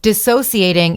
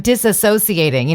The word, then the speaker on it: dissociating: A lot of people are using it, and they're saying it wrong. Everyone's saying, I'm disassociating. They're saying disassociate.